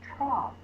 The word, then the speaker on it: trough: the next one is trough the cows ate from the trough t o u just like Sam g h says and says a trough that one's a heart